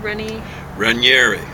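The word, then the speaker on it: Raniere: can't get a hold of his book, Keith Renier. How do you pronounce it again? Ranieri Ranieri.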